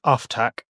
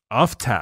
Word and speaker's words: Uftak: No, it's this does seem to be very much sort of a British American pronunciation split, but at least in my head, it's Uftak.